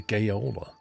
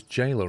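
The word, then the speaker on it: gaoler: Pronouncer the same as jailer apparently. No way. So, it's like a really weird spelling of jail.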